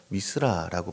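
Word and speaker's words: מִשְׂרָה: 그의 어깨는 정사를 메었고 여기서 정사에 해당하는 히브리어를 보니까 미스라라고 발음합니다.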